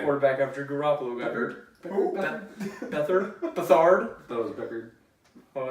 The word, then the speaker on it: Beathard: Beathard at Beck- quarterback after Garoppolo got hurt. Beckard? Beathard? That was Beckard. Well, it's spelled B-E-A-T-H-A-R-D.